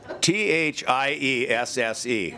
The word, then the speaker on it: Thiesse: Thiesse, and it's pronounced just like the two letters TC.